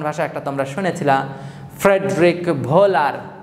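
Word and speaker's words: Wöhler: একটা তোমরা শুনেছিলাম ফ্রেডরিক ভোলার, তার নাম আসলে ফ্রেডরিক ওহুলার, ডাব্লিউর উচ্চারণ জার্মান ভাষায় সেটাকে ভি এর মতো, তাই তখন ফ্রেডরিক ওহুলার থেকে ফ্রেডরিক ভোলার বলে থাকি আমরা।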